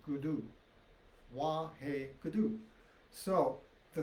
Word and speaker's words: Guru: And when you chant it in Gurmukhi, the R is pronounced with a D. So instead of Guru, it's Gudu.